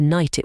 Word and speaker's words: knight: behind take the word KN it was once pronounced K nit with that hard k sound but as the language